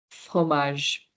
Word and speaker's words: fromage: So, pho, again, the roll your R, h, h, more like a h sound, fro, fro, and then mage, fromage. That's kind of the pronunciation of this.